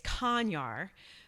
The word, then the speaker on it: Konyar: is my last name so I'm going to spell it it's a little unusual for this area it's it's conyar spelled k-o-n as in Nancy y-a-r so the